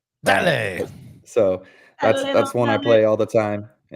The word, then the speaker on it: Dale: Dale.